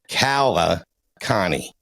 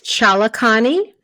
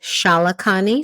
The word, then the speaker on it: Chalakani: But the last name, I'm going to go with Kala Connie. Nope. What is it? It's Chalakani. And some of the relatives pronounce it Shalakani. So either one of those two are correct.